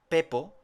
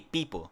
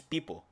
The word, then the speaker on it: Peepo: Por eso dos es se pronuncia como una I, Peepo. Pero nosotros aquí lo decimos Pepo, pero allí en inglés es Peepo.